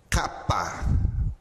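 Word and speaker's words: κάππα: Kappa, kappa. Note que ela está grafada aqui, já em português e em grego. A pronúncia dela é o C ou K. Sempre essa pronúncia.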